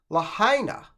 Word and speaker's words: Lahaina: Lahaina, I believe that is how you pronounce the town where these fires were hit.